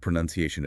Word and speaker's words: pronunciation: It is essential to avoid the mistake of including the word noun in the middle. That's right. It is pro nnncishin stressing the third syllable.